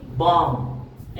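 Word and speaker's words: bomb: जैसे कि बम एम के बाद में बी आया है तो बी साइलेंट रहेगा।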